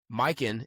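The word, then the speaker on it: Mykyn: That's spelled M Y K Y N. Mikin is a high-end luxury eyewear brand focused on quality, craftsmanship, and timeless style.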